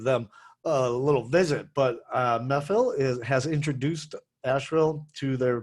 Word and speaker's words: Mehfil: to the brand new methyl restaurant that's m-e-h-f-i-l so i'm not sure i'm pronouncing that correctly or not looks like it's pronounced methyl and methyl is a indian